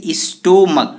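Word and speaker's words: stomach: क्योंकि इसका ending sound जो है क का प्रोनाउंसिएशन देता है, मतलब ये सी एच च नहीं क का दे रहा है।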